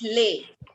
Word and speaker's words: Les: If we individually pronounce this word, the pronunciation is lay.